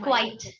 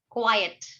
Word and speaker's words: quiet: Not quite. Quiet. Quiet. Pronunciation क्या है? Quiet. It's called Quiet. quiet.